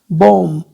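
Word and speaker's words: bomb: बॉम्ब। ठीक है, B silent है इसमें।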